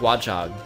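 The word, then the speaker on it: Watchog: it said what nog no you say it like one like watch AAG watch hog yeah it's like watch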